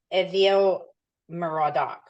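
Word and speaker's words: Evil-Merodach: aell mardock oh evil it's pronounced ail morodok ruled from 562 to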